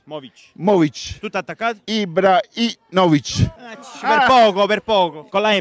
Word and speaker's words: Ibrahimovic: Ibrahimovic?